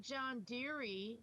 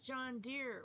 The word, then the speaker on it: John Deere: e at the end it's not John Deary it's John Deere well if you look